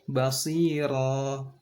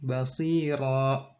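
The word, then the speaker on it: بَصِيرًا: Contohnya yang ketiga, basira, dilepas. Jangan basira. Nah, itu salah. Jangan ditahan, jangan dibuat seakan bacanya itu tertahan dan di akhirnya itu ada hamzah. Jadi bacanya dilepas saja. Basira, alima, sami'a. Jangan ditahan kayak ada hamzah di belakangnya.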